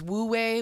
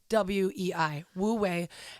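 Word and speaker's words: wu wei: the same idea as Wu way which I might be saying wrong but it's spelled w-u-w-e-i Wu way and that whole thing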